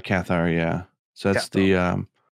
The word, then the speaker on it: Cathar: that wasn't yeah yeah i think it's pronounced uh cathar yeah so that's the